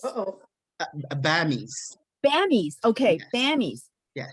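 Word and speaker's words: bammy: We ordered your, I think, correct me if I'm mispronouncing. Is it Bambi's? Uh-oh. Bammies.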